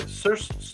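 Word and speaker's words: Saoirse: Yes, I believe her name is pronounced Cersei. Cersei Ronan. pronounced Sarsi. Help me out. Sarsi Ronan is her name is often mispronounced. Oh, it's supposed to be said Sersha.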